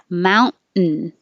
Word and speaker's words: mountain: this is the situation where you make the noise mountain mountain and if it's just